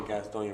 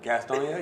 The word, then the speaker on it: Gastonia: we are here in Gastonia right now mhm okay how you say it again what Brooklyn no Gastonia yeah yeah n no we definitely we Gastonia we are here in Gastonia okay not Gaston so yeah I mean